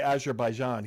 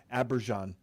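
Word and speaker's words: Azerbaijan: Well, he didn't say Azaraijan, he said Abberjan, right? He pronounced the name wrong.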